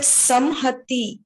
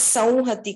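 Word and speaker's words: संहति: are pronouncing it as sauhati, khalu? Yeah, it's no problem. Anyway, is correct. You can pronounce it as samhati or sauhati. For this course, we are pronouncing it with a nasal sound.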